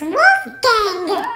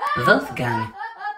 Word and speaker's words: Wolfgang: Who the f*** is Wolfgang? Actually, Lucy, I believe it's pronounced Wolfgang. And it's German, or Deutsch.